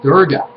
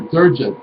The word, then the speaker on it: Durga: as Kali, Parvati, and Durga, or Durga, depending on how you want to pronounce it.